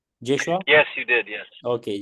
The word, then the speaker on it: Joshua: Am I pronouncing your name correctly? Joshua?